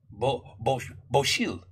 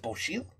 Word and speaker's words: bocil: Bocil. Is it Bocil? Right? C alone, pronounced C-H. Damn, I hope I remember. Is it Bocil?